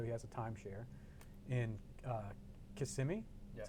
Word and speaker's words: Kissimmee: He has a timeshare in Kissimmee.